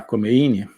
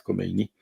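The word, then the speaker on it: Khomeini: bloco comunista eh o ayatolá comein ou kini parece que a pronúncia persa é mais kini eh estava exilado volta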